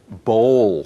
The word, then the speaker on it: bowl: 包是肠子 So bowl, like bowling bowl.